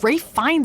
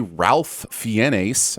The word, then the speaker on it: Ralph Fiennes: rules intervening with puberty you'll turn him into ray fines and red dragon first it's clearly ralph fiennes i mean learn to pronounce things but also referencing ralph